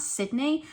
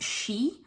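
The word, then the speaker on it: Sidhe: she path and you're probably thinking isn't that Sydney um which is a fairy word now they apparently say it should be pronounced she so that is how I'm pronouncing it and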